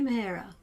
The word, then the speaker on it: Mehera: They couldn't say Mehera, the proper pronunciation.